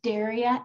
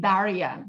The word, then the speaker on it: Daria: Can you tell us what Daria is about? So I pronounce it Daria. I prefer the open vowel.